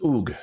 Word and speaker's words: Ug: So the name of the logogram was Bad, B-A-D. And the way you pronounce it was something different. Okay, that was it was Ug, okay, which meant death.